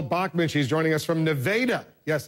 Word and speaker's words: Nevada: with congresswoman Michelle Bachman she's joining us from nadaa yes it's pronounced nadaa Iowa congresswoman let's talk a few National Security